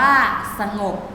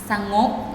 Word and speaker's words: สงบ: ค่ะ เช่น นะ คะ คำ ว่า สงบ อ่าน ว่า สงบ ถ้า ไม่ อ่าน สะโงะ อ่ะ คะ สนุก ก็ อ่าน